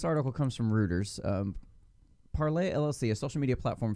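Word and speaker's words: Parler: need y'all to understand it's originally a french company it's pronounced parlay and i know all you damn americans keep pronouncing it parlor because you all just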